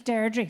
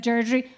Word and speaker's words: Deirdre: say my name with a Derry accent, it's Deirdre. So she calls me Deirdre. If you say Deirdre without the accent, it becomes Deirdre. So my father said Deirdre, my siblings said Deirdre.